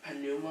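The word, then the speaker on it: πνεῦμα: Pneuma, you're pronouncing that P and that nu.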